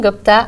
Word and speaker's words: Gupta: Today I have with me Harini Gupta. Am I pronouncing your last name Yes.